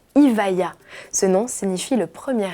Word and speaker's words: Evija: La rumeur disait vrai, le bolide, qui sera officiellement présenté le 16 juillet, se nommera Evija, prononcé Evija.